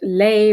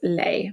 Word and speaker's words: lei: there is a way there's some ways to tell if you're talking about lei versus lei, but when you're speaking, they are pronounced exactly the same.